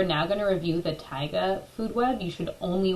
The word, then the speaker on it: taiga: taiga food web and yes that is how you pronounce taiga okay I'm gonna start